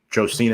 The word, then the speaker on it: Josina: According to Josina Jo Anderson, can't pronounce her first name. The Giants, Josina Anderson, thank you.